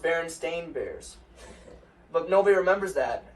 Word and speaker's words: Berenstain: that one so like you remember like the Berenstein bears yes yes actually pronounced berenstain bears but nobody remembers that and like there's